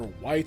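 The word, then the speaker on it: Whyt: the Adolin Wits or White, that's just pronounced, it's spelled W-H-Y-T, and the mini games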